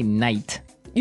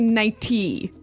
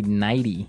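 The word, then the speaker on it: nightie: but you don't say night you don't say nighty you say nighty yeah you you make the t a d nighty now she offered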